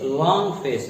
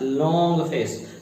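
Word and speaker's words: long face: तो आप कहेंगे to full a लॉन्ग फेस, लॉन्ग फेस, नॉट लॉन्ग फेस। लॉन्ग इज a Hindi type pronunciation, you will say लॉन्ग फेस, लॉन्ग फेस। जब आप एल का sound निकालेंगे तो ऐसा लगेगा जैसे फ्रॉग का जो गला फूल नहीं जाता है, कुछ इस तरह से।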